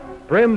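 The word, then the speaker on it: bream: fly and so forth brim by the way is spelled b r e a m it's a Big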